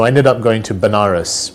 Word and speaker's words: Banaras: ended up going to Banaras which is a place in in India sometimes pronounced as vanarus which is a place